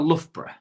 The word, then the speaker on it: Loughborough: Yeah. Bruff. Lough and bruff, innit?